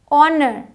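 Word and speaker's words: honour: साई यहां आते हैं एच साइलेंट है ऑनर ऑनर ऑनर पढ़ते हैं साइलेंट है और ऑनर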